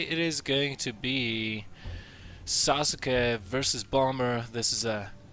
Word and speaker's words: Sasuke: are going to see Sasuke sosuke as it is the correct Japanese pronunciation of the name spawning as the red